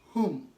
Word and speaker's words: whom: okay W is silent another rule is that W is not supposed to be pronounced when it comes before h in these ways try to compare these